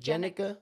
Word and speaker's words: Jennica: So, you How do you Wait, how do you say your name? Jennica. Jennica. Jennica. Jennica. Jennica. Okay. Jennica. Yeah. Okay. I got it. I got it. I I thought it was Janica.